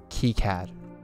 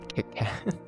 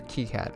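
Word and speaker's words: KiCad: key CAD okay not kitat okay here we go the official name I prefer is K I C the French pronunciation is near key CAD okay you know what key CAD I will accept that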